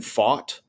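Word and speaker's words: Pfaadt: mean, this poor young man, I've been purposely mispronouncing his last name all year, but Brandon Fought. You got it. That's it. No, I know. We on our podcast, we've jokingly called this poor fellow Brandon Fat for no reason, just because we're children.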